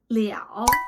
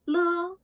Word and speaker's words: 了: The second pronunciation is liǎo. You will see this in words like 了结, 了不起, le, or liǎo.